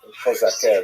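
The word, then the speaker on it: Cossacks: Who were these cosacs? Kossaks or Kak to use the Ukrainian pronunciation were basically uh Ukrainian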